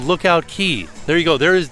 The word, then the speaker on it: Lookout Cay: On this fine day with the aqua colored sea, welcome to the Bohemian paradise called Lookout Cay.